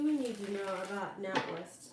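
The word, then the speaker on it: NatWest: need to know about not West am I saying it correctly not West yeah not West not West or not West I think that's an a not West okay what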